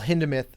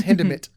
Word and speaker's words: Hindemith: spelled like hindemith and it's really hard as an american to not want to pronounce the th but it's hinderment and he uh very